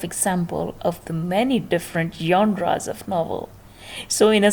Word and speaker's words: genre: is the word g g-e-n-r-e how would you pronounce it january january or junior no not at all it's a french word and it will be pronounced like genre how genre said genre